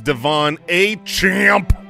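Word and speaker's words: De'Von Achane: And we finally figured out how to say this guy's name. It is Devon A. Champ, because he's a champion.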